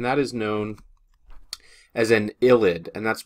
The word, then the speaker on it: ylide: is known as an illid and that's pronounced with an i not a y even though this is how it's spelled it's ID and the